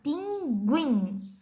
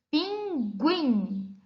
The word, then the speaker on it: pinguim: ou não é pronunciada mas existem alguns casos em algumas palavras que o é pronunciado no grupo de letras g1ig observem os exemplos que a profe Gabi trouxe nós temos aqui um pinguim repita com a Prof are pinguim observa uma diferença na pronúncia mas preferi abre a pena que você não é a mesma não se não fosse pronunciada nós para anunciar íamos essa palavra da seguinte forma pinguim mas nós não vamos